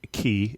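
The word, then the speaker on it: Cay: And when you talk about Waterlemon Key, and I always have trouble pronouncing that word because it's spelled C-A-Y, we're talking about a place that isn't as accessible not by boat.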